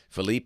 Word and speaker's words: Philippe: hurricane season just checking to be sure I've got the pronunciation right it is Rina Felipe and Rina this is the seven